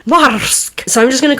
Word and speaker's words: Marske: I'm going to call it, the way it's pronounced is more mask, because English people tend to pronounce their R slightly different to we do because we roll them here. Marske.